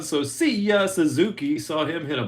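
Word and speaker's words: Seiya: I keep saying it, see ya, like see ya later on a home run. So see ya, Suzuki.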